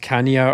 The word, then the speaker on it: Chania: a town called Chania, which I think is sometimes pronounced Kania or Kanea in English, but I think it's Chania.